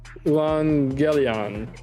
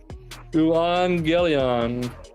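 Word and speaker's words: εὐαγγέλιον: And so it's Euangelion, and I have no idea what that means. The good news and gospel. Okay. Euangelion.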